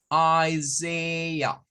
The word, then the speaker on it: Isaiah: Y esta AH va a sonar a un schwa. Recordando que el schwa es como decir, Entonces, el nombre del libro, ¿verdad? En este caso es Isaiah. Isaiah. Isaiah. Es la pronunciación que corresponde al nombre Isaías en inglés.